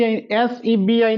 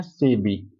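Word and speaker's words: SEBI: हां इसको पढ़िए इसको इसको हम एसबी एस ईबी आई नहीं पढ़ते हैं। ये ध्यान में रखिएगा। इसको एस ई बी आई नहीं पढ़ते हैं। इसको हम पढ़ते हैं सेबी।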